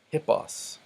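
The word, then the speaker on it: ἵππος: ace hey road ace notice I'm not saying I'll Marcia or boss or a road ace but I'm putting the H sound at the beginning because the rough breathing mark tells me to hamartia means sin hippos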